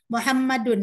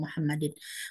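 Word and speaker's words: مُحَمَّدٌ: subjeknya mubtada unmar found Muhammadun dibacanya Karena dia muqtada bukan Muhammad dan atau Muhammadin Muhammadun setiap ketemu Isim diawal Kalimat harus percaya diri membacanya marvon Muhammadun muda daun marfu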